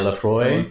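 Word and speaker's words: Laphroaig: So like Lafroig, is that how you say it? Lafroig? Yeah, Lafroy.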